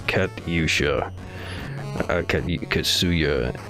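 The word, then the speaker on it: Катюша: kachusha uh 8-bit version i always forget how to pronounce it it's kat yusha okay you could sue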